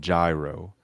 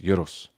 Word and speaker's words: gyro: European Euro uh well some people call them gyro but they're pronounced yurus it's is a lamb meat mix that's put